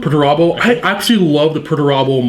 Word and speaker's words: Perturabo: Pronounce the guy's name for me. Perturabo? Perturabo.